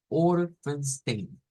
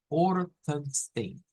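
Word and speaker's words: fünfzehn: Que el número 15 debemos decir Orphenstein. Orphenstein. Entonces, al leerlo completo nos queda algo como Matois Sex Orphenstein.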